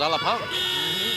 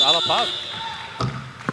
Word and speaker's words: Alapag: The first time I saw his name, I thought it was Alapag. But it's Alapag. But spelled A-L-A-P-A-N-G. E-L-O-R-D-E is pronounced Elorde.